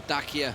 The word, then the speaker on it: Dacia: I can see one Dacia there, but I don't know whether they got too much more. Or Dacia, if you want to get the correct supposed pronunciation for it.